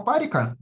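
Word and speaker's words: Парикх: вторая тема это тема парика сразу скажу что ударение ставится на на первый слог давайте я даже покажу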